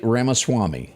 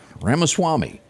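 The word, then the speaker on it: Ramaswamy: likable guy uh Swank how do you say his name Vivic Ram Vivic RMA Swami as this man knows it all over here od's on it RMA Swami last week he spent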